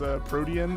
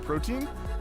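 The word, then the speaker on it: Protean: found out that one grinch's hidden ability is pronounced a protein and not protein and uh libero is a copy of protein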